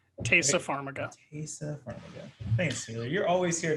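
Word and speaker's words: Taissa Farmiga: know dexter um and i'm not going to pronounce her name right uh tysa farmiga tasa pharmaca thanks taylor you're always here to correct my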